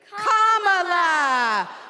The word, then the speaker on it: Kamala: First, you say comma like a comma sentence. Then you say la like la. Put it together and it's one, two, three, comma.